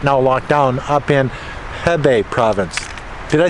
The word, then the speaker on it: Hebei: I think there's 36 million people in China right now locked down up in Hebei province.